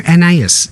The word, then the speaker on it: Anaïs: uh n i anus am I saying anaus in love isn't it I'm saying it right yeah I think so I hear three I hear three syllables when they say it fantastic catch it